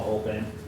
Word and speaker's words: Goldman: And Paul, why don't we ask you to comment on what you've heard, and let me introduce, first of all, Paul Goldman. Did I pronounce that correctly?